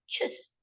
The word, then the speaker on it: Tschüss: But how to pronounce this? Tschüss. So easy, right? Tschüss. Bye is tschüss, but it is written as TSCHUS.